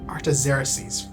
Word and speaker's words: Artaxerxes: That's right, Artaxerxes. That is not how I would have pronounced that.